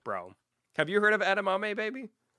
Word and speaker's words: edamame: OH, I didn't say it right. I called it edame. I could Dude, I know. My boy Marcela is losing his mind, dude. Edamame.